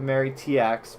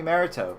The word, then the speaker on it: Mariteaux: Most people know to call me Marrito.